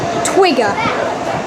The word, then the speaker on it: twiga: I'm sure this is not how you say it, but a giraffe in Swahili is twiga, like a twig.